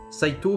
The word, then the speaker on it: Saito: long ou un OU, mais quand vous avez Saito, que ça finit par OU, on prononce Saito. Voilà. Ça, je le sais parce que, par exemple, quand je parlais avec Arita, il me disait tout le temps, quand je lui demandais avec quels illustrateurs il avait des relations, il me disait Fukuda-san et Saito-san. Voilà. Donc il m'a bien dit Saito-san, hein, il m'a pas dit Saitou-san.